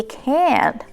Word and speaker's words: can't: But when it comes to the word can't, we use a little bit of breathing out, as well as we emphasize it and not pronounce the last T.